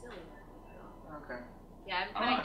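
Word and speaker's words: Xillia: you might know better, I always said Exilia. I think it's just Zillia. Because I used to say Exilia too, but I think some of the cast people have been like, it's Zillia.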